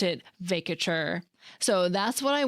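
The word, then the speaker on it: vacatur: Supreme Court justice Sonia Sotomayor using the word, and she pronounced it "vay-kuh-tchur," so that is what I went with and would recommend in the absence of any other definitive source.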